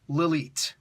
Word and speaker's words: Lilith: Lilith she she says yes my name is Lilith it's pronounced Lalit even if she said